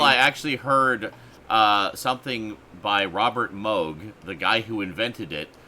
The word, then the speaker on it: Robert Moog: Well, he literally said, "Hello, I'm Robert Moog." I'm like, "Oh, that's how you then.